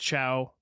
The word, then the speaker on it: Chao: But this other guy, Ciao, he was a different story. And I did look it up. It is just pronounced ciao.